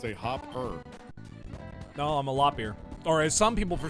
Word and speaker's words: Loppear: No, I'm a loppear. Or as some people for some reason pronounce it, lopper.